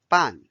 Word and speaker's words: 半: Now let's learn 半 is the fourth tone.